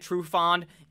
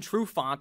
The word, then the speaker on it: Trufant: lions where he'd put desmond true fond dressman desmond trufant i should say i think i pronounced his name wrong so i'll just edit